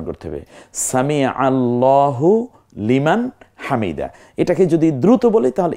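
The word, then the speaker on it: سمع الله لمن حمده: দেখুন এরো চিহ্ন কি সুন্দর লাল চিহ্ন হয় সামি আল্লাহু লিমান হামিদ আমরা বলি সামি আল্লাহ হুলিমান হামিদা সামি আল্লাহ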